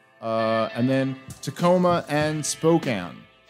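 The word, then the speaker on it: Spokane: and then Tacoma and Spokan that's I was told today that's how you say it spoke been told by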